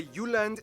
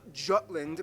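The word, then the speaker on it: Jylland: Denmark is made of the you land not Jutland peninsula that connects to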